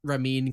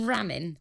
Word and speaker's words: Ramin: section is all about ramin Karimloo caramel ooh Karimloo well we call him ramen we call him ramen but it's actually Ramin and Ramin is I